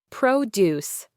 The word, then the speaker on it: produce: Produce. Stress on the first syllable, noun, fresh fruits and vegetables, versus produce. Stress on the second syllable, verb, to create or make.